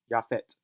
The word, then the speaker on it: Japheth: Japheth is a transliteration of Iepetos, sounded in Hebrew Japheth as Japheth is Yaphet.